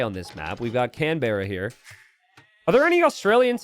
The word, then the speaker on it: Canberra: Less emphasis on the can.